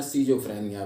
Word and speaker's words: स्किजोफ्रेनिया: दोस्तों, आज के वीडियो का विषय है स्किज़ोफ्रेनिया। इसे हिंदी उच्चारण में सीजोफ्रेनिया भी कहते हैं।